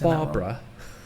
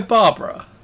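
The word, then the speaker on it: Bárbara: This one is by Barbara. Well, there's an accent on the A, so I might be. So it's not Barbara. Oh, Barbara.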